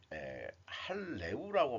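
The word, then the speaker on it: HALEU: 현재 고순도 저농축 우라늄 할레우라고 발음해야 되겠네요.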